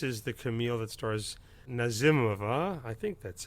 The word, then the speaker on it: Nazimova: This is the Camille that stars Nazimova. I think that's how you... We kept all of us going back and forth. Is it Nazimova? But I think Nazimova is the more Russian pronunciation.